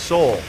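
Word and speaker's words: Sowell: bear says Thomas sa's surname is pronounced Soul yeah and people are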